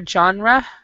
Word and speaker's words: genre: good either but the first word right here John ray is how we pronounce it genre do you guys know what